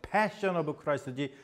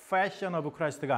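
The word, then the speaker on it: The Passion of the Christ: 오브 크라이스트 있죠 패 여러분 발음 잘해야 돼요 패션 오브 크라이스트 패션 오브 크라스가 아니야 예수님 패션 해 봤자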